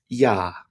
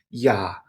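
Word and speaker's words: ja: we have yach yacht yacht is the German version of J and this is always soft so in English J makes a j sound there this is not the case in German we don't have that J sound instead we have y y like our letter Y and an example of a word would be the word for yes in German which is yah yah spelled j a yah y yah moving on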